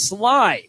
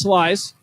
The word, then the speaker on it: Slice: Then I was told I'm wrong. It's Sly. No S at the end. So I started calling him Sly. Finally, I went to him on the concourse pregame. I said, Jameson, how do you say your name? He said it's Slice. Pronounced how it's spelled.